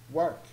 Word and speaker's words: Warwick: like as in the classical ways for example Warwick like how it's worth but actually it's pronounced work so the devil here will not really pronounce